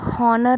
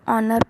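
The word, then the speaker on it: honour: तो हम इसको हॉनर नहीं पढ़ते हैं, हम क्या पढ़ते हैं, इसको ऑनर पढ़ते हैं।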